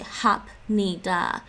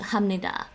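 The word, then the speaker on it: 합니다: n verb ending um but in pronunciation you don't say hap nida when you're speaking very fast it's a natural morphing of the p and the n to hamnida so they don't say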